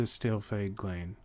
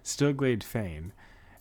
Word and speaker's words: Stillglade Fane: You, sir, head to Stillglade Glane. Wow, I really butchered that. Stillglade Fane, and beseech the aid of Brother Asumi.